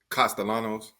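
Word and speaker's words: Castellanos: Florida State Thomas, how you pronounce his last name? Costalanos.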